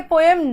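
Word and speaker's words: poem: याद रखेंगे की यह पोयम रात के समय में वैसे पोयम पोयम को पोयम कहा जाता है ठीक है पों पी ओ ए एम को हम पों प्रोनाउंस करते हैं बच्चे पहले चीज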